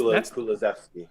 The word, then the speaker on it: Kulusevski: there that I don't quite know how to pronounce his name yet. That's Kulusevski.